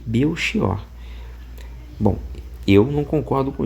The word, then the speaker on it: Belchior: Ele vai dizer assim: "Tal como indica a grafia, o nome Belkior, variante de Mequior, é pronunciado com o X de mexer ou o ch de azeviche.